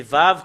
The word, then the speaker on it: ו: voilà le vave voilà c'est vave qu'on le lit et voilà le he